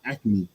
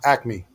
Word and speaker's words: acme: right is it active is it acronymy or acne nah acme acne oh son i've been saying this joint